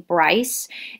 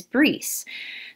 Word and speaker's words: Bryce: many hundreds of years they adapted the english pronunciation of the name and that is why i go by bryce so please don't call me breese it's it's bryce my